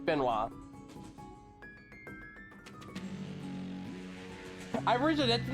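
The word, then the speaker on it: Benoît: Yes, that is how you say it's Benoit. It's not Benoit. It's Benoit.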